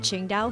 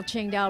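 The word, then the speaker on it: Tsingtao: build a brewery too while it's spelled differently it's pronounced the same way the city is pronounced Ching da the original Ching da Brewery has been completely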